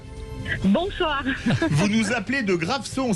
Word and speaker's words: Graveson: Vous nous appelez de Graveson, ça se prononce comme ça dans les Bouches-du-Rhône. Graveson.